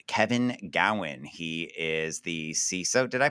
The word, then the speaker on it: CISO: am here with Kevin Gowan he is the ceso did I pronounce that right you did all right he